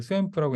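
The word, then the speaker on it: SVAMP: 그다음에 세 개는 이제 아웃 오브 도메인은 이 스웸프라고 읽는다고 하는데 스웸프 매스매틱스 시뮬리크라고 있나요?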